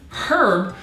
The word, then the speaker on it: herb: to the word herb pronouncing the H as in herb only became mainstream around the 19th century so that is a